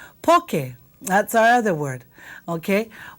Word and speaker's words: poke: a little ha and Bento okay laow right poke that's our other word okay poke this is